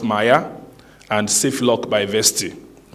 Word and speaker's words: MIAI: groundbreaking features which is Maya by vti pronounced Maya and safe luck by